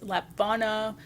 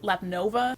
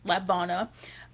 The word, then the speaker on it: Lapvona: on Tuesday, June 21st, and that is Lapvona, I'm not entirely sure. And honestly, up till like yesterday, I've always pronounced it Lapnova.